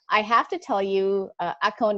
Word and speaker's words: Axone: And I have to tell you, Axone, am I saying it right? Yeah, perfect.